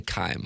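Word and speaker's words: Keim: Is it Kime, Jackson? K-E-I-M. I say Kime. Yeah, I don't know how else you could pronounce that.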